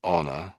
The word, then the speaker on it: honor: The H happens to be silent, but most of the time we pronounce the H when it's at the front.